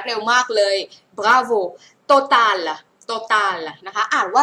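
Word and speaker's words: Total: ซิ ฮ คุณ รั เร็ว มาก เลย บราโว โตตา โตตา นะ คะ อ่าน ว่า โต ตา โตตา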